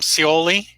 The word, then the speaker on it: Scioli: Tom Scioli.